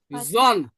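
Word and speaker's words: Sohn: জন, আমরা ইংরেজিতে সন বলি না, সন, হ্যাঁ, দেয়া, দেখেন এস এর পরে ভায়েল আছে, এই জন্য কি পরিবর্তন উচ্চারণ হবে, জন, দেয়া জন, দেয়া জন মানে কি, সন, Their zone.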